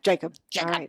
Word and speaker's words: Jakab: would be pronounced GL Cobb okay okay or Jacob or there's a lot of other pronunciations so but when in North America it's yeah Jacob yeah great you're all over Instagram and Karen